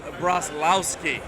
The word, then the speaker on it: Broslowski: All right, for those of you who are wondering how to pronounce the last Zisha's last name, it is Broslowski, which is definitely not what I thought.